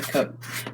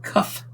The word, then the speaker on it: cuff: busted up rotator cuff tough not a cup by the way just so you know it's a rotator cuff and not a rotator cuff um so you know if you've been saying it wrong don't keep saying it wrong all right my